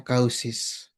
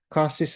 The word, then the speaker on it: causes: Causis and effects bukan causis ya. Banyak anak Indonesia bacanya kausis. Causis kayak audio bacanya audio audio ya. The audio the audio is not working gitu. You're audible. Oke, causes and effects.